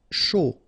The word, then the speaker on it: chaud: Chaud. Final D not pronounced, and then when you combine this C and H, you get the sh sound. A and U, O.